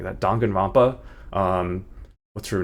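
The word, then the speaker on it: Danganronpa: It's kind of similar vibes as um Dongan Rompa. Why did I pronounce it like that? Dangan Rampa.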